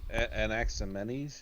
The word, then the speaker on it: Anaximenes: I know it's heretical, but Anaximenes, is that how you say it?